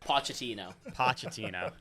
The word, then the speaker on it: Pochettino: Went from goodbye Greg to drop Klopp to some guy named Pellegrino, and now we have this guy, Pochettino. Is that how you say it? Pochettino.